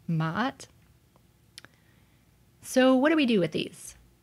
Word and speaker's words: Ma'at: This is an Ein. So again, it's just complementing the Ma'a that we already had. And then we have a T. Again, the feminine ending. In this case, making the word Ma'at.